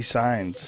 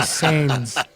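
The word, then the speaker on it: Saenz: I don't know Frankie Signs. Because you don't know fighting, bro. It's Frankie Sains.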